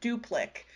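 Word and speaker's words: Duplik: is also in this category and that is duplic it's spelled d-u-p-l-i-k but it's been published under a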